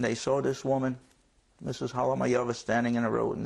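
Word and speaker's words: Halamajova: Her name is Francesca Halamayova. H-A-L-A-M-A-J. The J is pronounced as Ya. O-V-A. Halamayova.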